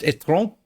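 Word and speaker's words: étron: But what they failed to realise is that their electric car called the etron, in French, when you write it, it's pronounced etron, and it means turd.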